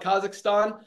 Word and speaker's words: Kazakhstan: we have renowned tamarov from kazakistan as not pronounce is that I call it Kazakhstan uh congratulations renad and